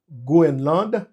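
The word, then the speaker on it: Groenland: connaî tout il dit pourquoi ça me prononcer grosland et ben c'est question de anglais avec et français et c'est Greenland c'est vrai mais français a dit goenland donc des représentants de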